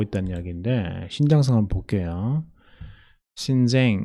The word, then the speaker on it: Xinjiang: 신쟁 이렇게 발음하네요.